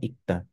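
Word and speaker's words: 읽다: This G moved here, but in basic form, Ikta. We only pronounce the G.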